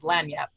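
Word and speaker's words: lagniappe: No, you're actually looking for, it's not spelled how it's pronounced, but it's lanyap. Oh, okay, lanyap.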